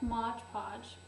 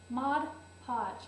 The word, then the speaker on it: Mod Podge: get this wonderful stuff Modge Podge Mod Podge what are you saying it wrong anyway mod podge and